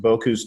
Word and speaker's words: Bocuse: So Rich is a certified master chef, and he represented the United States at the Bocuse cooking competition, and he was also featured in the film The Contender, which documented that process.